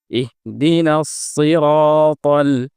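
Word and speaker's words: اهدنا الصراط: হরুফে মুস্তালিয়ার অন্তর্ভুক্ত এবং এটি মোটা হয়ে উচ্চারিত হবে কিন্তু আমরা এটিকে মোটা না করে অনেক সময় সিনের সাথে গুলিয়ে ফেলি যেমন আমরা বলিনা সিরাতাল সিরাতাল যেটি সম্পূর্ণ ভুল সঠিক উচ্চারণ হচ্ছে ইহদিনাস সিরাতাল এটি কিন্তু মোটা হরফ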